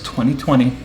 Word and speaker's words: MMXX: album 2020 and yeah that's not mmxxx it's 2020. that's how it's pronounced uh definitely a super group when i